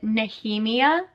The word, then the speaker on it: Nehemia: I pronounce this name very different from everyone else only because I knew someone in my life with this name and they pronounced it very differently. They pronounced it Nehemiah. I know everyone pronounces it Nahhemia. I'm going to say Nihemia for you guys, but if I say Nehemiah a couple times, like I apologize.